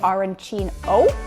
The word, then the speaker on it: arancino: they're going to say arancino with an O. And if you're on the western side, Palermo, they're going to say arancina with an A.